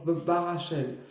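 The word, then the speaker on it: Barachiel: Alors ça se dit Barakel, mais on prononce Barachel.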